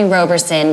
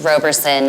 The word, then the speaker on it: Roberson: You can call me Roberson because honestly, English dictates that it should be pronounced Roberson, although I was informed